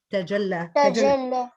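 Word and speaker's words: تجلى: Il y a un léger sifflement quand tu prononces le ta. Alors en arabe, on dit ta et non pas t. Ok? Donc fais attention à cette prononciation.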